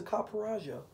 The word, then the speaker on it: Copperajah: It's a Copperajah. Copperajah. You know, like Copperajah. You know, like the Indian whatever their like princes are.